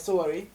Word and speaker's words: Sowore: Police, did I pronounce his name correct? Sowore.